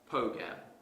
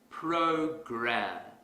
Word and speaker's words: program: Going back to our previous example, suppose I pronounce this word as pogam. That's incorrect because the R sound is missing. If I want to fix this mistake quickly, I will exaggerate the R sound. Program.